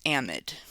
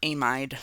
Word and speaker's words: amide: hydrogens or to carbons this is an amide or amide they're different pronunciations so this is the